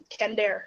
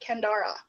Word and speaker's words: Kendare: And I was like, oh, it's got a 3rd syllable. Okay, not Kendara, Kendara.